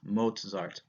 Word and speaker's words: Mozart: don't call him Mozart I know his name doesn't have a T in it but in the German whenever you have a vowel followed by the letter Z it you get the T Z pronunciation so it's Mozart's Mozart so Mozart you probably